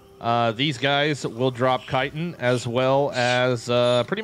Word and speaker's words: chitin: in the early game is chitin or chitten if you're weird but it's definitely pronounced chitin fight me in the